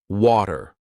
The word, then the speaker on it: water: This is when T sounds like a very quick D.